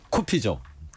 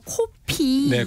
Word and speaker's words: 커피: 하면요 1991년까지 였거든요 어 1986년에 문교부 고시로 이제 외대어 표기법이 공포되면서 커피는에 코피가 아니라 커피로 발음하도록 했습니다 이때 짜장면이 자장면으로 바뀌면서